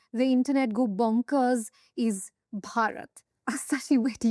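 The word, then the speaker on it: भारत: Have you seen a Westerner pronounce Bharat, by the way? It comes out as Barat.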